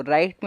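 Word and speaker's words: write: से समझ लेते हैं जैसे राइट तो राइट मेरे राइट पड़ा इस में डब्लू को नहीं पढ़ा क्यों क्योंकि आर है उससे पहले डब्लू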